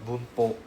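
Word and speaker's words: 文法: If you're interested to know what is uh grammar, grammar is called uh boono. Boom. Right? This is how we pronounce this as boono.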